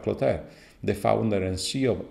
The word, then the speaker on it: Clotaire: I suppose to be the right pronunciation, this one. Rapaille, like apple pie. Clotaire, is it right?